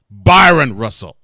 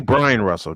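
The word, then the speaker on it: Bryon Russell: Byron Russell. Brian. No, it's actually Brian Russell, just spelled with an O.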